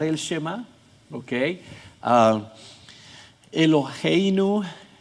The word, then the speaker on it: Eloheinu: Eloheinu casi se pronuncia como una J, pero es suave.